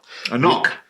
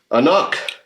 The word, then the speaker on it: anCnoc: A knock. A knock. anCnoc. Yeah, I don't know where you get that from. I've always wondered where they got that from. It does say right here, pronounced a knock.